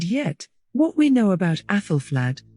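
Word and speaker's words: Æthelflæd: what we know about affelflad as the Anglo-Saxons actually pronounced her name is only known at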